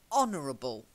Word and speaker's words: honorable: you said it's fun a silent H silent a yeah honor silent H honorable silent H okay this next one's